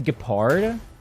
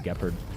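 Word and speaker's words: Gepard: Gard rhyming with leopard. I know his name is Gapard, but I think it's funny if I call him Gard. People get really mad if I call him Gopard.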